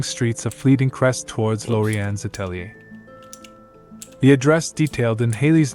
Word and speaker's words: atelier: pronounced Lorianne's, and atelier is atelier.